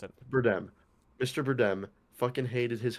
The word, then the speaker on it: Bardem: how you pronounce it. Bardem.